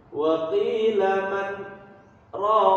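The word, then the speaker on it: وَقِيلَ مَنْ رَاقٍ: Wa qila marraq. Nah, gitu kan? Marraq. Tapi karena ada sakta, diperjelas bunyi huruf nunnya. Wa qila man raq. Bukan wa qila marraq. Man-nya dibaca.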